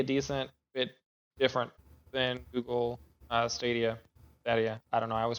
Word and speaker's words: Stadia: to be a decent bit different than Google Stadia. I don't know. I always pronounce that wrong. Who cares? No, that's right. Stadia.